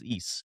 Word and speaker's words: Ys: That's how you say it, is Ys.